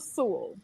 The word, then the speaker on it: Sewell: butchered your last name coming in can you pronounce your last name one more time but you fix it though sheila sewell okay there we go you fixed it it's